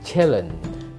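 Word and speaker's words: chillin': Nah, diselengkan lagi, biasanya huruf G-nya hilang menjadi chillen.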